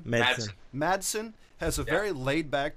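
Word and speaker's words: Madsen: Um, the other part is Michael Mattis, how do you say his name? Madson.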